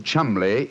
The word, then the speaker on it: Cholmondeley: Being an American, he had no reason to know that the name Chumley is in no way pronounced the way it is spelt.